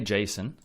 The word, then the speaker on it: JSON: Now, I say JSON for anyone who's maybe totally new to it and has never even seen it. It's spelled like this, J-S-O-N, okay?